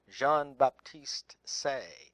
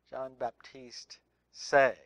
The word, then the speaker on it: Jean-Baptiste Say: And an economist that typifies that perspective would be a French economist, and I don't speak French very well, but I guess his name is pronounced Jean-Baptiste Say, S-A-Y. Jean-Baptiste Say. Of course, we said that